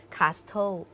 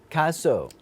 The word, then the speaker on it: castle: ใจ ค่ะ เพราะ ว่า เขียน มี ตัว T ก็ จริง แต่ เวลา ออก เสียง เรา ไม่ ออก เสียง ว่า Castle เรา ออก เสียง ว่า cle Castle ใช่ เหมือน ชื่อ ทีม